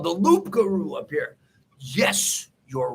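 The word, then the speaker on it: loup-garou: the they called the lougaroo not the loot but it's the b the p is silent right the lugaru right right and that's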